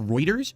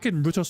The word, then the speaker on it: Reuters: a large amount of it's pronounced Reuters really I had no idea it was Reuters that sounds silly I thought it was I always thought it was R because roters sounds